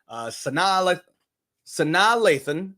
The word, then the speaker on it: Sanaa Lathan: Sanaa Lathan, I looked that up, by the way. That is how you pronounce her name.